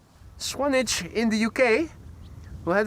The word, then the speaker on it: Swanage: Keith is also in the chat greeting us from how's that pronounced? Swanich. Swanage in the UK.